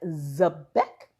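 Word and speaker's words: xebec: And you say it like Zebek.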